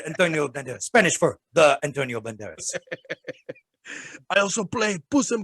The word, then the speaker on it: Antonio Banderas: That's how you have to say his name. You have to say Antonio Banderas.